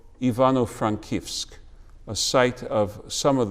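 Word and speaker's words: Ivano-Frankivsk: the soviets had renamed ivano frankowsk today pronounced in the ukrainian ivano frankevsk morris was working there for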